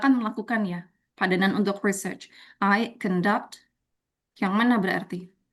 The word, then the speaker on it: research: When it comes to noun, the pronunciation is research.